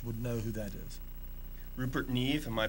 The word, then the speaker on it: Rupert Neve: who who watch would know who that is Rupert Neve am I pronouncing it right that's right that's okay Rupert Neve that's Rupert's card anyway but that's the god